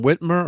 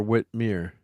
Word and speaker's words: Whitmer: you so that's Sam how do you say his name Whitmer or Whit Meir witw witw Whit were were right yeah we R yeah Whit were y Whit Murr is the governor yeah Governor yeah so